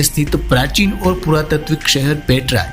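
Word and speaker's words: Petra: वर्तमान जॉर्डन के अमान प्रांत में स्थित प्राचीन और पुरातात्विक शहर पेट्रा, जिसे अरबी उच्चारण में पेत्रा या अलबत्रा कहा जाता है, यह दुनिया के चुनिंदा प्राचीन शहरों में से एक है।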